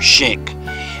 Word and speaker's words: Schenck: And I've been pronouncing the doctor's name wrong all along. It was Dr. Schenck, is what his name was, that was hired by